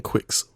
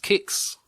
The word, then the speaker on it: Qix: I mean, all I'm thinking of is the game Quicks. Quicks? What is that? So search for QIX. Oh, I remember that. Apparently it's pronounced kicks.